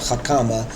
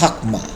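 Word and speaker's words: חכמה: If you remove the, like if you're saying wisdom is Chakma, it's not Hakama, it's Hakma.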